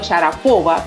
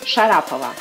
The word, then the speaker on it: Sharapova: menos que maría jajajaja es común pronunciar su apellido sharapova pero no es así es sharapova y cabe decir que